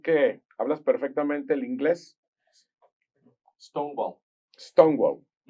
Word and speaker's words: Stonewall: Stonewall. Así se pronuncia.